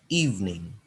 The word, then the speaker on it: evening: Ya, jadi terlihat seperti ada 3 suku kata, kita bacanya 2 suku kata saja, evening.